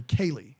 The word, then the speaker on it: Ceilidh: So it's a Kaylee dance.